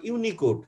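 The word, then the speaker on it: Unicode: এবং 3 নাম্বারটাকে একসঙ্গে উচ্চারণ করবা, এটার নাম হবে ইউনিকোড।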